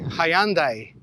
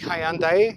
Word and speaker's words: Hyundai: Australians say Hyundai, but I like Hyundai because it rhymes with beautiful day and Santa Fe.